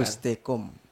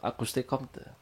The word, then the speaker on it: Auguste Comte: Auguste Comte bacanya itu. Ya yang benar saja kalau baca itu Auguste Comte.